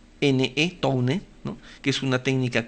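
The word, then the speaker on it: Towne: Se escribe Tone con T-O-W-N-E, Tone, ¿no?, que es una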